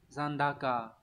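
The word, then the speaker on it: 残高: Đọc là Zandaka.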